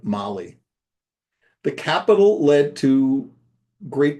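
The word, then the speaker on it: Malé: We had an 8-hour wait in Abu Dhabi and another 4-hour wait in the capital of Maldives, which is spelled Male, but pronounced like Mali.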